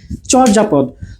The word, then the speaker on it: চর্যাপদ: চ এর পরে যদি জ ফলা বা অন্তস্থ জ থাকে তাহলে চটা ও হয়ে যায়, এটা হয়ে যাবে চো।